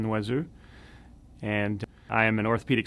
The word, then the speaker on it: Noiseux: My name is Noiseux, pronounced properly from Canada, where I'm from, is Noiseux, and I am an